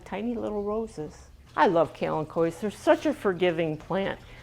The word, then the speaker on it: kalanchoe: We also have things like kalanchoes, and it is pronounced kalanchoe, not kalanchoe.